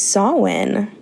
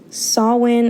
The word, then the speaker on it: Samhain: It is Samhain. Samhain is spelled Samhain.